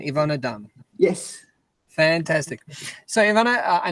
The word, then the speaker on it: Yvonne Dram: you good good and is that the correct pronunciation ivana dumb yes fantastic so ivana i know that you're